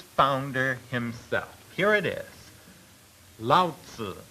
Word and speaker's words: Lao Tzu: Lao Tzu is the way it is pronounced.